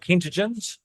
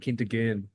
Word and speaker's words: Kentigern: Is it St. Kentigens? Is that how you pronounce it? St. Kentigern. Kentigern's, yeah, I think.